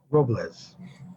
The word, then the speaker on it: Robles: Robles.